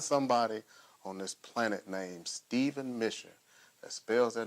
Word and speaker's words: Steaven: Steaven. My mother decided to spell Steven with an A. I say that it's spelled like heaven.